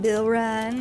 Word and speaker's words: Bilron: Yes, that's how you pronounce his name, Bilron.